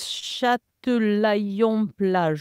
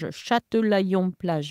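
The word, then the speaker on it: Châtelaillon-Plage: The town is Châtillon-Plage. Châtillon-Plage.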